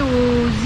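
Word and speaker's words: Å: Le village de A, qui se prononce O en fait, est un village-musée qui regroupe 14 bâtiments datant du 19e siècle.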